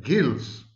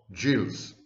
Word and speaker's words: gills: words i stand corrected fish have gills not jills if they are somatic